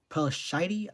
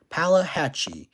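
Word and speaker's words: Pelahatchie: So yeah, if you do live near Brandon, Robin Hood, or Pella, hold up, Pelashide, I guess. Palahatchee. Oh, okay, never mind. I now pronounce it. So, Palahatchee.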